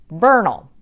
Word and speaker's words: Bernal: part of Mexico but we don't pronounce it the Spanish way we actually pronounce it Bernal Bernal Heights and then